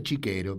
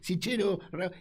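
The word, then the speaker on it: Cichero: Y fíjate que cuenta que el doctor, dice el doctor, en italiano se pronuncia Chiquero, pero es Sichero, es de la cancha de Boca.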